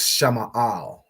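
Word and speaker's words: שמאל: So Sha is separate, Ma'al. Okay, so Sha Ma'al, Shama'al.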